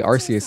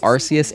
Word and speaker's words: Arceus: I would like to play Arceus, actually. You know, apparently it's been pronounced both ways, Arceus and Arceus.